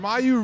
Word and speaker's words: Maiju: That is we don't have Mayu Renee is how she pronounces that one.